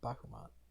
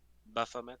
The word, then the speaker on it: Baphomet: And how do you pronounce his name? It's not Bahamut. It's Baphomet.